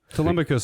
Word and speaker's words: Telemachus: Telemachus is right.